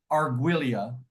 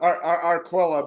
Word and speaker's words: Arquilla: So Arquilla. Say it right. It's Italian. I don't speak Italian. Close enough. Arquilla, but as long as you just keep talking to me, I'll be okay.